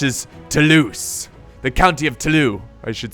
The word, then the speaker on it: Toulouse: Toulouse the county of talut I should say that there's no F you don't pronounce the S and there's there's sneakily